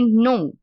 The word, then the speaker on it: know: don't signal we say no so the beginning letter is silent but the letter W also silent so instead of saying